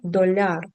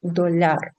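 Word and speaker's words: dolar: ун копіле долар ун доляр зверніть будь ласка увагу на наголос наголос падає кінець слова доляр син унфіу брат унфрате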